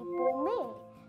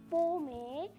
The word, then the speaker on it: pomme: In French, pomum became to be pomme, which means apple or fruit. So I just searched it up on Google, and what I was saying as pomme is actually pronounced pomme.